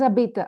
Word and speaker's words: habitent: We Il, don't elle pronounce the habite. final. Ils, elles habitent. Habite, like the first one. Ils habitent, elles habitent. Il habite. Elle habite. Okay, so we don't pronounce the last consonant.